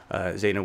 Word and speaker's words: Zeynab: really excited to have Zana with us today yes the B is silent we learned that did